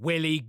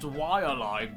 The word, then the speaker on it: Waialae: Thirdly, I can't think of a better ad for a game called Willy Golf. Actually, I think you'll find that it's pronounced Waialae Golf, based on the real-life golf club in East Honolulu, Hawaii.